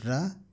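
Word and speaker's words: ㄹ: the next character real it is pronounced as ra when it is in the beginning or in the middle of a word and L when it is in the part simp position so if you write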